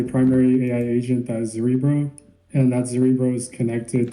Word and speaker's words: Zerebro: Zerebro? How do you pronounce it? We say Zerebro, but you can. Whoa! Wait, what? Whoa. Zerebro. My net worth is in this. I'm pronouncing it wrong the entire time.